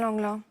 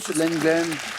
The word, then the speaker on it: Lenglen: j'ai donné mon nom à l'un des Suzanne Langlin cours de Roland Garos Lenglen bonne réponse Suzanne Lenglen j'accepte llin bien sûr